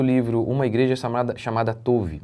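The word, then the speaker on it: Tov: Uma igreja chamada chamada Touve. E é assim mesmo que se pronuncia. O próprio no próprio livro a gente lê assim.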